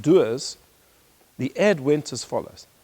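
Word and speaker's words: Dewar's: whiskey which is spelled D W RS and pronounced doers the ad went as follows that in life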